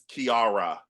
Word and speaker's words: Kiara: So it's Kiara.